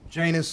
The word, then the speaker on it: Janus: this was in 1974 Janus like rhymes with anus yeah as I think